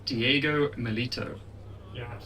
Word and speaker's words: Diego Milito: It's Diego Milito.